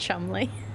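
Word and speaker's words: Cholmondeley: don't know how you'd say that one pronounced Chumley okay fine whatever that's how they want to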